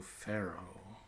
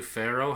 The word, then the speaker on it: Pharaoh: I guess you could argue Pharaoh has a silent A.